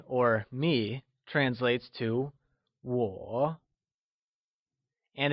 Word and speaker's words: 我: I, or me, translates to 我, and it is pronounced using a falling, rising tone. Let's try and say 我. Once again, it is said with a falling, rising tone, also known as the third tone, like 我.